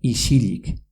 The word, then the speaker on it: isilik: Por ejemplo, en silencio, en euskera se dice isilik, pero se pronuncia isilik.